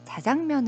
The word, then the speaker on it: 자장면: 들이 어 방송에 나와서 짜장면이 아니라 자장면 으로 발음하는 걸 치러 본 오실 수가